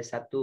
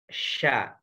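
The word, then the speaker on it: ش: Dan ini terjadi pada satu huruf, yaitu huruf sya, yang dimana makhrajnya tengah lidahnya ya naik ke atas ya ke langit-langit. Sya, sya, sya, shin ya, titik 3. Sya, sya. Jadi jangan bacanya sa, tapi sya.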